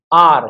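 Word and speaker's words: hour: आर, क्या पढ़ते हैं, आर, एच इसमें भी क्या रहता है, साइलेंट, तो क्या आएगा, एन आर।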